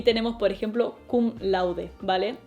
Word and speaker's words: cum laude: que a lo inglés así que puedes ir kum lord kum lord c lo que sea pero en realidad es kum laude vale Eso significa literalmente